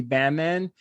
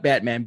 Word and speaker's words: Bamman: The role of Uncle Frank was originally written for Kelsey Grammer, but he was unavailable, so it went to Gary Bamman. Not Batman, Bamman.